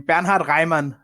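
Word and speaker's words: Bernhard Raimann: corrected me last time because she thought I butchered this name banard Ryman who's uh oh that's perfect yeah there you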